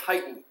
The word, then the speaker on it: chitin: And those four are starch, glycogen, cellulose, and this is a hard one to pronounce. It's called chitin.